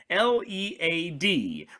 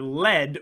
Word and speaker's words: lead: The correct answer was L-E-A-D, pronounced either lead or lead, depending.